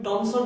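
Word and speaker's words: Thomson: তো থমসনকে থ উচ্চারণ না করে তুমি টমসন বলো না, তাহলে দেখো কোনো সমস্যা নাই।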